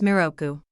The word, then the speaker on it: Miroku: The English term Maitreya is written in Japanese as Miroku and pronounced as Miroku.